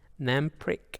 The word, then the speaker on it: Namprik: Namprik, I've pronounced that correctly.